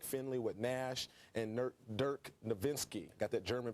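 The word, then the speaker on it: Dirk Nowitzki: help from mike finley with nash and nerd dirk nowinski got that german pronunciation right they're excited and he's backing up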